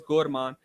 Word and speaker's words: Gur Rahman: So the funny thing is his proper name is Gur Rahman, but the way we say is Gorman. So yeah, we say it like Gorman.